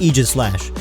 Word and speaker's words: Aegislash: statement from the Pokemon company and the dictionary pronounce it this way we're gonna call it Aegis slash it's line is somewhat unpopular for the fact